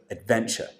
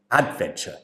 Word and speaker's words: adventure: error with the word Adventure so she stressed the syllable at the beginning she said Adventure instead of Adventure so the stress has to come on the second syllable that's it so everybody